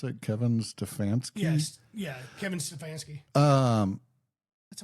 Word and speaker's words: Stefanski: Stefanski, how do you pronounce it? Kevin Stefanski?